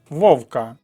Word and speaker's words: Вовка: смаленого Вовка записуємо і позначаємо що наголос на першому складі Вовка так кажуть про того хто